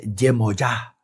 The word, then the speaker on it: Yemoyá: Y en África no es Yemayá, es Yemoyá. Yemoyá, Zompaná.